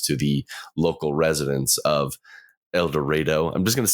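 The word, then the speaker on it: Eldorado: on my ears, but they kept calling it El Dorado, Texas. Yeah. And I'm just like, it's a Spanish word. It should be El Dorado.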